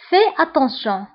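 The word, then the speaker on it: fais attention: فهنا بالنسبة لفي اس لا تنطق. في اتونسيون. فهنا أيضا كنقوم بلا ليزون كنقولو في اتونسيون. في اتونسيون لأن هاد الكلمة منتهية بأس اللي هي كونسون، وهاد الكلمة بدات بألية فويل، دونك كنقومو بلا ليزون كنقولو في اتونسيون.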